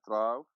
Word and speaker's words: trough: We have sunk in a trough. We have let's say stop. I know that you're struggling to pronounce this word, so remember the word rough, tough, trough.